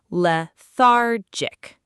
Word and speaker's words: lethargic: Notice the stress is on the middle syllable. Lethargic.